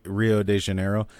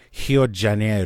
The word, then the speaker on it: Rio de Janeiro: so I was in Rio de Janeiro he'll Junaid oh that's how they say it and Portuguese are at the beginning of the word sounds like H its freak'n yet like